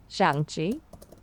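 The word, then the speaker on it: 象棋: But I can tell you it's pronounced Shang-Chi Yeah. with a rising tone on the first syllable and a falling tone on the second.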